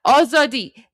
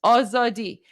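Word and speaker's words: آزادی: But yeah, oadi. That's your word for tonight. Oadi.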